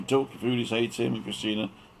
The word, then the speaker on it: Christina: And this is my wife, Christina. It's spelt like Christine, but it's Christina.